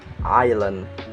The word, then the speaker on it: island: the next is is letters of s which is also can be silence like this example Island debris Isle Island debris and Isle letter of T it's